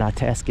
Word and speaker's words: Itasca: itasa State Park and itasa is the correct way of pronouncing it cuz I did ask somebody all this is just